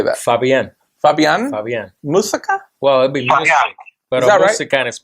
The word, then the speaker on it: Fabian Muzik: Fabian Muzik. It's M-U-Z-I-K, but it's pronounced music.